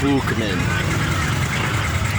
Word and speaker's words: Buckman: And you know Buckman, as in Miriam Buckman, Elise Buckman, Darren Buckman. The original pronunciation is Buchman. We're German Jewish.